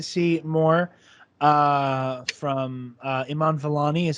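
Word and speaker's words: Iman Vellani: cannot wait to see more uh from uh iman valani is how you pronounce it correct yeah okay good i always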